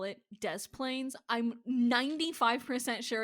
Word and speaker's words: Des Plaines: Oh my god, it's actually called Des Plaines.